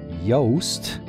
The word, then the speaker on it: Yoast: It's almost the English pronunciation of his name, nickname. Yoast, Y-O-A-S-T, is a big deal.